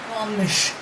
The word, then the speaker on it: Gomes: Gomes.